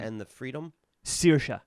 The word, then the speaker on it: Saoirse: Saoirse. Saoirse. So Saoirse is Gaelic for freedom. Like searing a steak.